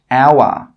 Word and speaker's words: hour: Some common examples are hour, honest, honor. In all of these words, we are not pronouncing the H sound. We are not pronouncing the letter H.